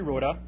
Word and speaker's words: Roda: it's actually wrote up it's German so you pronounce all the letters thank you for that appreciate that thank you to his worship the mayor and honorable City councilors my name is Roda and initially I was